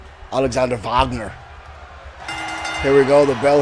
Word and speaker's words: Wagner: dragon Fletcher and Alexander Wagner is it Wagner or is it Bogner I know sometimes the Germans like to pronounce it a different way I don't like to